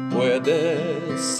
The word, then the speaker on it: puedes: A mí me puedes hablar. A mí me puedes hablar. A mí me puedes hablar. A mí me puedes hablar. A mí me puedes hablar. Puedes, 아하가 아니고 아입니다.